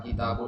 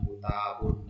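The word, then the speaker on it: كِتَابٌ: Jadi kalau kita ya Kenapa kata kitabun Antum tahu bacanya Bagaimana bukan kutabun bukan kitabun Eh bukan katabun Kenapa Antum bisa tepat membacanya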